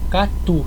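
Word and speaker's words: katu: palavra que é Catu Catu significa bom a gente escreve k a t u Mas a gente não acentua porque a gente terminou em U você sabe que a silab tônica é a última mesma coisa se terminar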